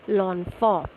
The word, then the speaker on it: l'enfant: So it is L apostrophe, so it is pronounced as l'enfant.